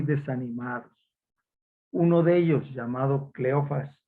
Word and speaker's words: Cleofás: Uno de ellos, llamado Cleofas o Cleofás, dice que se acentúa en la A, pero que no se pronuncia el acento.